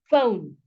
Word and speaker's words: phone: actually add the word phone. Phone here can actually fit in. Yes, it is spelled with P, but it has the F sound, so it fits in here perfectly.